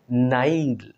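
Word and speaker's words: Nile: একটা বড় নদীর নাম নাইল মানে আমরা বাংলায় বলি নীল ননদ যেটা আর কি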